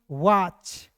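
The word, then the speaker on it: watch: पढ़ेंगे दोस्तों अब देखिए यहां पे डब्ल्यू ए टी सी एच तो क्या पढ़ेंगे वाच अब कहिएगा सर कैसे है तो डब्ल्यू ए का हो जाएगा वाह के रूप में उच्चारण करेंगे टी सी एच का यहां पे टी को साइलेंट करेंगे और सी एच का उच्चारण ट के रूप में करेंगे वाच वाच मींस क्या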